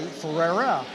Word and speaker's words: Ferreira: pronounce his name well just think of cars and think of wheels and think of Ferraris and change it to Ferrari Ferreira and so Ferreira